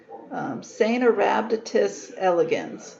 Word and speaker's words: Caenorhabditis elegans: in molecular biology is CAENORHABDITIS elegans. So you pronounce this C as a soft C, so like an S sound, CAENORHABDITIS elegans.